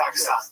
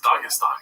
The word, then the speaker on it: Dagestan: I didn't say I was going to Dagestan. Okay. I assumed you were. No, it's actually pronounced Dagestan. I don't know if you didn't get it right there.